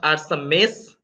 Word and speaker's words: Arsames: Okay, so the first thing I want to say, from what I found, it's pronounced Arsames because it's named after an ancient Persian king.